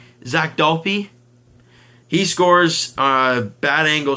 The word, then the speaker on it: Dalpe: Zach Dalpe, I thought it was Dalp back in the day. Did I change pronunciation? Zach Dalpe, he scores a bad angle shot.